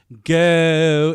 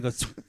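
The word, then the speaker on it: Geaux: So we're all go in G-O or G-E-A-U Tigers. Remember, that's how they say it in Louisiana.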